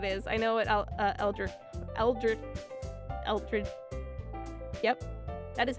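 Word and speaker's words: eldritch: I know what Elrich Eldrich Elri Yep, that is how you say. Eldrich horror is eldrich.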